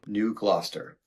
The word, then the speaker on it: New Gloucester: New Gloucester. New Gloucester. New Gloucester. Gloucester is how it's spelled, but it's like there's Gloucester, Mass.